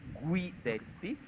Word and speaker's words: Guidetti: You pronounce the U, it's not Gui, it's Guidetti.